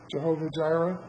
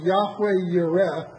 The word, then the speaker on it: Jehovah Jireh: Jehovah Jireh? It's an unfortunate twist on the way it's probably actually supposed to be pronounced. It's supposed to be Yahweh Yireh.